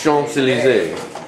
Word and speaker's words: Champs-Élysées: It's spelled Champs Eli C's. And it's pronounced what? Champs-Élysées.